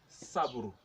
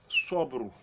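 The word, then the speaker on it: صبر: But if you pronounce sobru, sobru, the person is gonna know immediately that you mean patience.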